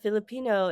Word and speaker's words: Filipineux: And I want to note for our audience that Filipino in this context is spelled with a EU X.